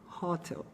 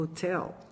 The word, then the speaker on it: hotel: palavra pensa em sair a maioria dos alunos falaria hottel mas o correto é o hotel com estresse lo lá pro final sim ta hôtel leva